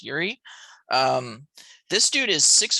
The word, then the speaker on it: Yuri: yuri perez i pres forgive me if i mispronounce that but i'm pretty sure that's how you say it as yuri um this dude is